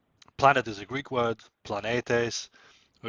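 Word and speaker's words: πλανήτης: is a Greek word planetes or if you want to pronounce it in a more Byzantine or modern Greek way it'll be blanitis and that quite simply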